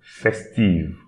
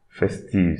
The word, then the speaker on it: festive: Festive. Festive. So you see, I'm not pronouncing the E, but instead I'm pronouncing the V before.